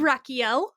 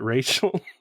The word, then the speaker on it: Rakiel: end so i am rakiel the lab tech do you get angry when people see your name tag and pronounce it rachel yes very angry but